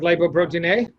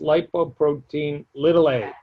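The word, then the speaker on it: lipoprotein(a): Want to talk lipoprotein A?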